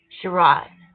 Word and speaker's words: Sherrod: This has it the way you pronounce it too? Sherrod. Yeah, of course. It sounds like it should be charade.